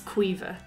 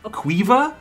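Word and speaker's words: Caoimhe: doesn't make any sense cueva there is not a single letter in this word that is pronounced except for the first one the rest of the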